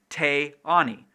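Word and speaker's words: Teani: So for female names, these people put a glottal stop between two vowels, which changes the second vowel from long to short or vice versa. Te, ani.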